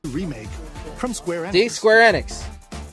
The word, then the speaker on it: Square Enix: It's pronounced square annex, not square enex remake from Square Annex.